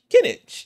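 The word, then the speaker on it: Kinich: Kinnitch.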